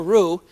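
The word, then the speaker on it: roux: I go remember a rue is simply butter and flour mixed together so that you can use it as a thickening agent.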